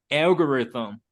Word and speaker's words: algorithm: The first one, algorithm. Algorithm. Very good. Anyone else? Algorithm. Algorithm. Angie? Algorithm. Okay, algorithm, like TH. Algorithm. Thumb. Yeah, the TH sound, you stick your tongue to your teeth.